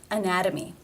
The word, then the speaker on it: anatomy: again it is a t between two vowel sounds anatomy anatomy therefore it is the flap t sound or d anatomy and again the